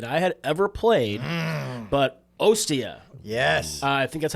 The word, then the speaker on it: Ostia: And this was the first Moncala game that I had ever played, but Ostia. Yes. I think that's how it's pronounced.